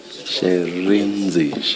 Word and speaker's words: Shirindzi: Sherenzi. Thank you. Can you please say it again so that we get it right? Sherenzi? Sherenzi. Sherenzi, Chairperson, Sherenzi. She, yes. Sherenzi. She, Re, and then Nzi.